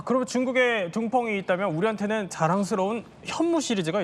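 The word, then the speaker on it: 东风: 둥펑인데 이제 한자로 쓰면 동풍입니다. 이제 중국 발음은 이제 둥펑 미사일인데요.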